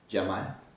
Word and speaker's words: Cemal: First of all, my name is written pronounced like Cemal, so I don't want anyone to know me in a wrong way.